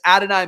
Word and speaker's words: Adonai: Colts, obviously, the big addition here is going to be Adonai Mitchell, AD Mitchell.